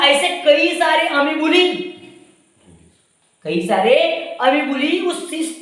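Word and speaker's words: amoeba: तो इन अमीबा अगर बात करते हैं, अमीबा क्या बात करते हैं? अमीबा, अमोइबा स्पेलिंग के लिए, ठीक है?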